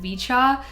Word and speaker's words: VCHA: I was going to pronounce it VCHA, but I heard someone else pronounce it Vichchaw, so I guess I'll just go with Vicha.